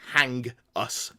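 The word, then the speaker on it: H'Angus: yes that is Angus the name Angus with a h apostrophe in front of it to be pronounced hang us the monkey that's pretty interesting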